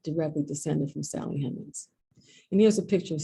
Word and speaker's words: Hemings: found this document, a death certificate of Peter Hemings Robinson. It's spelled Hemings, Hemans, on the document.